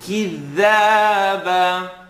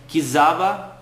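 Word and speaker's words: كذابا: If you want to hear it off, maybe compare it to what you're saying. Kizaba. Kizaba is I'm not sure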